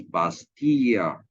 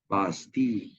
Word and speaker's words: Bastille: is a prison, Bastille, but you don't pronounce that as Bastilla. You just pronounce that as Bastille, and you don't pronounce, for example, uh, the palace of what will be in English.